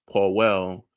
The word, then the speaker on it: Powell: Slovakia is pronounced Powell, like Colin Powell.